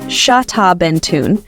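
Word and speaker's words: Xtabentún: right history nerds this one's for you xtabentun pronounced shaben tun is an ancient Mayan Lor made from fermented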